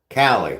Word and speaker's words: Callie: that, but so, which way do I pronounce it? Type of 1 for, type of 2 for Callie. You got a pink ukulele? Of course you do. Callie. Okay. Now I know. See, I've been saying it wrong this whole time.